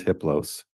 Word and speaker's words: hippos: a level or entity his name is hippos the H is silent the other three are